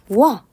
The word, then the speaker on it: 와: 그 다음으로는 와 이게 있죠. 우와 와 할 때 오하고 아가 합쳐지는 거라서 이것도 입 모양도 달라지고요.